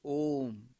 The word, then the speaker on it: Om: Onkara, as I said earlier, implies this sound, the sacred sound Om. It consists of three syllables, A, U and Ma.